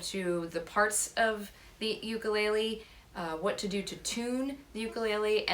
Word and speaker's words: ukulele: to note is that the official pronunciation of this instrument is ukulele it is a Hawaiian instrument but here we call it ukulele or uke and that's